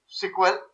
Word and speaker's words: SQL: people still know it by the same name sequel and pronounce it like sql only but in the